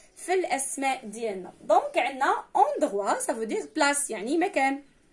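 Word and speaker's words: endroit: دونك عندنا اندغوا سافو دير بلاص يعني مكان. اندغوا مكان. كيفاش كتكتب اندغوا؟ او ان دي ار او اي تي. تي ما كتنطقش حيت ما كايناش معاها الدعامه اللي غتخليها تنطق، واللي هي ان شاء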